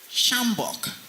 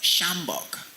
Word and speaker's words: sjambok: Third, shambok. Even though it begins with a sh sound, there is no SH in that word. However, there is a silent letter J in the word.